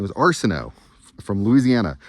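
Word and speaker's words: Arceneaux: My last name was Arsenault, from Louisiana. It's a hat from Lafayette, Louisiana. My name was spelled A-R-C-E-N-E-A-U-X, A-R-C-E-N-E-A-U-X. Cajun French, not just French, Cajun French from Louisiana. Arsenault family has been in Louisiana for hundreds of years.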